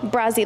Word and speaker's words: Brazi: I'm Brazzy. Great. Okay. You say your name what? Brazzy. Got a little knee band was crazy, though. Huh? Brazzy, like Brazil.